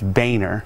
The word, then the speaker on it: Boehner: spell B Oh e H NER and it's pronounced Boehner yes it's B Oh like I wonder if